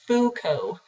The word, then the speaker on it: Foucault: He's French, so his name might look a little funny, but it's just Foucault.